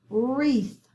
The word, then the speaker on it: wreath: under it last one wreath wreath we do not hear the w let's underline the digraph cross out the w we have a long